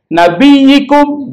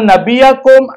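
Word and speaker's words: نبيكم: Nabiyikum, jangan nabiyakum, nabiyukum salah.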